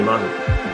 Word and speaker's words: Maughan: the progression Health podcast I'm here with Mah do you want to introduce yourself to